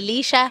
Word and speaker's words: Leshurr: October red you know my name is actually Lea it's pronounced Lea Lea yeah so many people think it's ler because of the spelling but it's it's literally